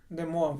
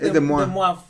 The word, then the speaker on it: De Moivre: Que son los yo sí creo que es de Moab, ¿no? Aunque se escribe de Moivre. De Moivre.